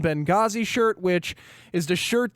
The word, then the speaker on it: Benghazi: brought to you by the H is silent in Benghazi shirt which is the